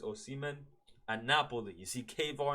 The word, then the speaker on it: Osimhen: Is it Oshiman or Osimen? I think it's Osimen.